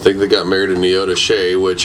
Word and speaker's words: Neodesha: I think they got married in Neodesha, which everybody that doesn't live in that area pronounces it completely wrong. What's it called? It's spelled Neodesha, but it's Neodesha.